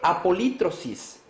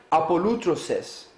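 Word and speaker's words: ἀπολύτρωσις: Y en el griego se escribe apolítrosis, pero se pronuncia apolútroses, que quiere decir un efecto de poner en libertad por un pago de rescate.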